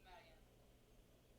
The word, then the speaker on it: Mariam: It's not a big deal, but my name is pronounced Mariam. Mariam. Mariam. Yeah. It's not Miriam, but it's okay.